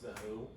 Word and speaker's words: The HU: So it's The HU. I believe it's still pronounced The Who.